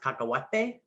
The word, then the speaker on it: cacahuate: So with that to be said, my nickname is actually pronounced cacahuate or peanut.